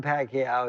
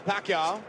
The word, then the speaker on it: Pacquiao: I says, "Bet on Pacquiao, he's 60-1.